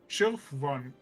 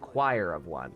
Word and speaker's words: Choir of One: Oh, that's uh it is that is pronounced choir of one. That's a stupid thing where the ch doesn't make the chess sound.